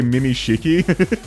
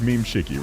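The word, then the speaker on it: Memeshiki: People just say Mimi Shiki. Look, I can understand. A lot of people would see Mimiky, but no, it's meme shiki, right?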